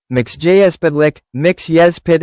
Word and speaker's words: Mxyzptlk: Mister Mxyzptlk, pronounced Mix-yez-pit-lik, Mix Yez Pit L